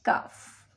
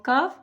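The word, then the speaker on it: كاف: It is qaf and kaf. Qaf and kaf. Qaf and kaf are both pronounced from the root of the tongue.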